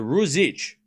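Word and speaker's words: Ružić: Okay, so it's zh, like zh. Okay, so Ruzic. Zich. Zich. Ruzic. Zh, like that noise.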